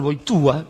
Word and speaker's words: Wojtyła: Por eso, el que escribió Gaudium et Spes, Karol Wojtyła, que es como se pronuncia Wojtyła en polaco, intentó dar otro perfil.